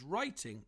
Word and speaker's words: writing: a word such as writing is tricky because of the silent W but other words can